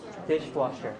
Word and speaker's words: dishwasher: Compound noun. It's a compound noun, right? So you put stress on the first one.